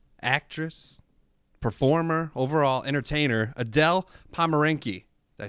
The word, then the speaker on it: Pomerenke: Craft Brews and Casual Conversations, joined with me, dancer, actress, performer, overall entertainer, Adele Pomerenke.